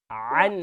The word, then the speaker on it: عن: عن حرامک, no an. عن عین pronounce properly.